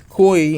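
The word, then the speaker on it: Cui: ball and later finding koi koi koi think his name is koi that's how you pronounce it coy and killing him with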